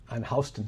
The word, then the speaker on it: Houston: New York, and on Houston Street. And I remember that, because it's not Houston. That's how they pronounce it.